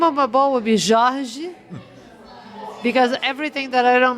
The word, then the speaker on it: Jorge: Just a Why carioca way of saying Jorge. it's like a people Like from. if you are from Rio de Janeiro, this is how you say Jorge.